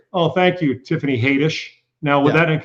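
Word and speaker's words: Haddish: Mike said and say, "Oh, thank you Tiffany Hadish." Now that it's pronounced Hattish.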